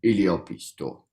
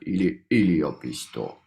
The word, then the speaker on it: yliopisto: Every word is pronounced like with falling intonation. So we Mm-hmm. have a word, any yliopisto, and like the Middle Finnish pronounce it like with a falling intonation on the Mm-hmm. last syllable. But there are some regions they are actually pronounced with a rising intonation.